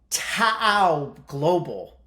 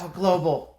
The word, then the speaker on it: TOA Global: is quite interesting of ta Global tell me if I got that pronunciation right uh Nick I probably didn't Tower Global is probably a little bit clean of it yeah it's close Tower Global oh okay we got